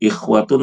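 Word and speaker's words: إخوة: Yang benar adalah pendek. Jadi bacanya ikhwatun. Jangan dibaca ikhwatun, salah.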